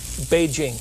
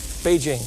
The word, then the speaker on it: Beijing: old Beijing excuse me if you're Chinese that's the way it's pronounced number Beijing Beijing all right so well